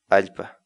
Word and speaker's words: allpa: Agora você está assistindo Palavra do Dia, uma série vídeos onde nós ensinamos você a pronunciar determinadas palavras em Quechua. Portanto, a nossa palavra do dia para hoje é... Alpa.